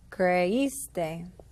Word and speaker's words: creíste: In the to form, now you're going to add an accent to the I. creíste.